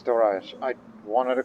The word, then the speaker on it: Dariush: Now, that name, we Westerners often say Darius, but it's Darius or Dariush, with the H at the end.